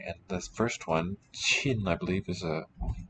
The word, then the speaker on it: 沁: and this first one, Chin, I believe, is a name of a river, if I'm not mistaken. EP for that one. Don't know of it in any words. Soak, yeah, pronounced chin, fourth tone.